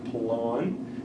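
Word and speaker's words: Pilón: And would you pronounce that name again? Pelon, P-I-L-O-N.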